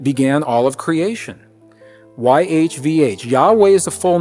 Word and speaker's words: YHVH: I am convinced beyond any reasonable doubt that this name YHVH pronounced Yahweh is the name that was in those original traditions.